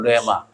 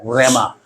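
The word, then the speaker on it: ῥῆμα: 헬라어로 레마. 이게 히읗 발음 나와요. 레마. 보통 한글에는 레마라고 써있는데, 하나님의 그냥 문헌적인 말씀이 여러분 예배 시간에 설교를 통해 내가 들음으로써 나의 말씀으로 깨달아지시잖아요.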